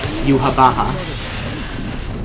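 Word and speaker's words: Yhwach: Except it's also confirmed that it's pronounced Yuhabaha.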